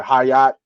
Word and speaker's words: Hyatt: Hyatt? Is that how you say it? Yeah, Jalen Hyatt. Yeah, Hyatt.